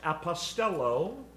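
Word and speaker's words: ἀποστέλλω: the father sent him the greek word translated sinned is pronounced apostello from which we get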